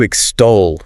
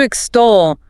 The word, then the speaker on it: extol: To extol. To extol. Extol. Stress on the second syllable.